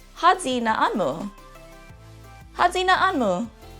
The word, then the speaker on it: Håyi: So to do so, you would say, Hadzi na'anmu. Hadzi na'anmu. The Y in the Chamorro alphabet is pronounced more like a Z or like a DZ sound, so Z, rather than Hayi.